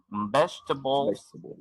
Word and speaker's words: vegetables: Vegetables es una palabra que tiene 3 E. La segunda es silente, no se pronuncia.